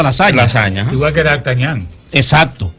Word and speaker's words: lasagna: Sí, en latín GN es ñ. Por eso tú ves que, por ejemplo, se escribe lasagna, pero la gente produce lasaña.